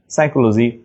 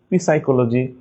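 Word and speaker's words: psychology: এটা এক্সেন্টের ক্ষেত্রে মেইনলি হচ্ছে পিএস থাকলে কিন্তু পি এর উচ্চারণ হয় না।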